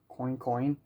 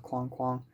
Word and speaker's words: Coin Coin: uh matana roberts uh coincoin chapter four and i received a comment saying like oh the pronunciation is actually coin coin and not quan quang a lot of people